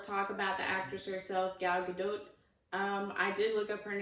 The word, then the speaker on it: Gal Gadot: has been a lot of talk about the actress herself, Gal Gadot. I did look up her name, and that is the correct pronunciation, I'm pretty sure.